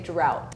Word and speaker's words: drought: through like those words because it's pronounced slightly different depending on the word like if you take off the D and the T it's rough so it sounds completely than the rest of it right yeah so this one is a little bit tricky but we would say drought f f it was